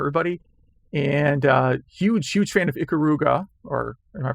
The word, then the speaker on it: Ikaruga: And huge fan of Ikaruga, or am I pronouncing that correctly?